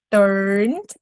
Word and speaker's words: turned: eu vou dizer I turned turned. E aqui, ó, repara como eu não falei esse e. Consegue perceber que a gente pula direto do N pro D?